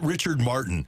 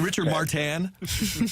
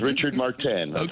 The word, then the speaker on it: Richard Martin: perau and Renee Rober and how did we pronounce it Richard Martin when shouldn't it have been Richard martan yes it was Richard martan for whatever reason he was French I guess